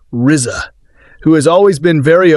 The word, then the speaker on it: RZA: The Man with the Iron Fists is the passion project of RZA, pronounced Rizza, who has always been very open about his love of the martial arts movie genre.